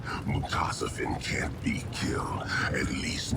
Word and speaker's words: Mutasafen: Mutasafen, that's how we pronounce it.